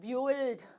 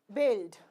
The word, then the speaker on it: build: is gone biscuit fine here you will not say bued bued the house because I is there after youu so U is going to be silent so it is going to be build fine now again same